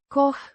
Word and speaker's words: că: Pronounced. Koch. Like the cow in cowboy, it links the suggestion to the following statement.